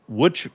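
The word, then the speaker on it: Łódź: to the team from Wood Poland. Now, that is spelled L O DZ, but it is pronounced wood.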